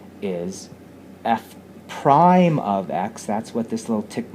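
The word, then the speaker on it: f′: for any x is f prime of x. That's what this little tick mark, that little tick mark here, is pronounced f prime of x.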